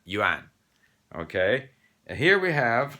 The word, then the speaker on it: yuan: have gone y-u-a-n and that tends to make people go you an instead of juan okay and here we